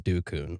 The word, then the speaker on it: dukun: Inside this wooden house is a dukun. What'd you call me? So there's a lot of different ways they pronounce this. The most popular way is dukun, okay?